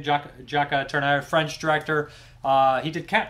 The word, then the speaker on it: Jacques Tourneur: It's directed by Jacques Tourneur, I believe is how you say his name. Jacques Tourneur, French director.